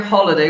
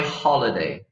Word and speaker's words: holiday: absolutely love now here holiday we pronounce the H okay so in my free time I love to organize my holiday okay I would say the answer is my holiday okay and this you